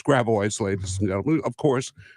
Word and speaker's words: Gravois: For example, we have Gravois. No, it's Gravois, ladies and gentlemen, of course.